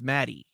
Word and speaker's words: Maddie: know there so I was pronouncing I was pronouncing it wrong anyways it wasn't Maggie it's Maddie Maddie Maddie MD MADD Maddie and L yeah